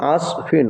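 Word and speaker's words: عصف: সদ জবর আস ফা দুইজের ফিন কি হল আস ফিন আইন সদ জবর আস ফা দুইজের ফিন উচ্চারণটা কি হবে আসফিন আসফিন সদ উচ্চারণ করতে গেলে মুখবুল আসফিন আসফিন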